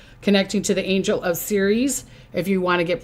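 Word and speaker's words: Ceres: call on her on series and they they spell it c e r e s but you can say it s e e r e e z here e okay so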